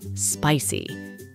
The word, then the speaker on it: spicy: salsa or hot wings the word is stressed on the first syllable spicy you can't buy these